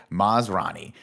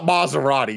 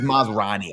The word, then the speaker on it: Masrani: Hammond handed over the keys to the kingdom to Maserati with his dying breath, and he's definitely sparing his name's not Maserati, is it? It's Masrani, I believe.